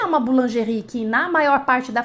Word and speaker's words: boulangerie: o pão você vai comprar o pão na boulangerie patisserie Repete comigo para ficar bem bonitinho o seu a sua pronúncia boulangerie patisserie partes aí boulangerie boulangerie patisserie boulangerie patisserie